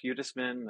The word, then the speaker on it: Hudesman: fee for many uh so yeah I'm hudisman I'm the sizzo of pinwheel I've been in